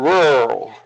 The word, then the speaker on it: rural: it's Ru rur or rur where I grew up it was rur it was like Earl all one syllable but I know that